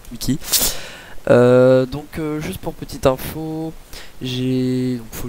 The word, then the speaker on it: Mikee: Normalement c'est Mickey si vous voulez en français, mais bon, j'imagine que ça va se prononcer à l'anglaise, donc Mickey.